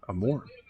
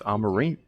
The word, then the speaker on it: Amorim: I was saying Amorim. It's Amarim.